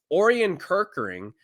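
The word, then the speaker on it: Orion Kirkering: In the 11th inning, you saw one of their main bullpen pieces, Orian Kirkering is how you pronounce his name.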